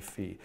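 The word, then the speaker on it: phi: chat confirm that I'm pronouncing the Greek letter fee correctly I know some people say five and I think it's actually fee so great I'm gonna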